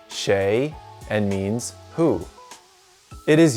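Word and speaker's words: 谁: a little bird told me this character is pronounced shay and means who it is used in this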